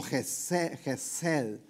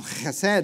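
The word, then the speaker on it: חסד: Y esa palabra es como Gesed. Pero es difícil pronunciarla, y lo más fácil que yo hallé para pronunciarla es hacerle como le hacen los gatos.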